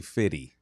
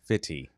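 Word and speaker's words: Fifty: It is technically Fitty. Fitty. Fitty like rhymes with Diddy.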